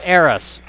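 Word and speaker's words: Ayeris: Washington averaging 6.3 points a game that is AIS Jones spells her name a y e r i s but pronounced AIS Trista Dell as a sophomore Guard from Spokan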